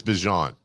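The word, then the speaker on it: Bijan: It's Bjon. Bjon. He He was on some show the other day, like two days ago, and he said, "Yeah, everyone's been mispronouncing it."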